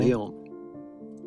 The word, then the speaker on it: Lyon: Lyon. Hey, I pronounced it right.